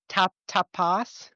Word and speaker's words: Tapas: Is it pronounced tapas or is it tapas?